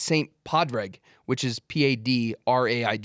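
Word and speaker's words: Pádraig: I'm like, the whole point is it's Saint Padraig, which is Padraig.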